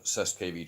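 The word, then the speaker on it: cestui que vie: um and you can also research the uh cess kv trust which is spelled c-e-s-t-u-i space q-u-e space v-i-e uh if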